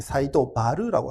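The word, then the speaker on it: 西都原: 바라라고고 갔던데 사이도 마루입니다 미아에서는 하라라고 읽지 않고요 르라고 이릅니다음 그래서에 니타 바르라는도 있고요네 사이도 바르라고 합니다데 미아사 중간에 사이라는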